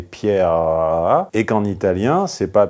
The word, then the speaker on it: Pierre: Et Pietro sont les deux versions du même prénom, à la différence qu'en français, c'est le E muet final qui est accentué. Si j'exagérais, ça serait Pierre.